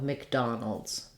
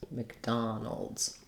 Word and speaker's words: McDonald's: to the l sound it's a syllabic l if there's any vowel there it's going to be a little light a sound and then our s at the end is going to be a z sound in this word so mcdonald's mcdonald's if